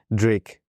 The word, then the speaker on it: DRYAK: Drake. As in DRYAK. So it's pronounced, but it's Dr. Yak. Dr. Yak, yeah. But it's Drake.